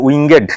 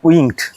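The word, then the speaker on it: winged: উইং এর সাথে যখন ইডি যোগ করব তখন উচ্চারণ হবে উইঙ্গেড, নট উইংড।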